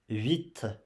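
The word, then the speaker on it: huit: 8. On prononce 8. You pronounce 8, okay? The H is silenced. So you don't pronounce H, you pronounce 8.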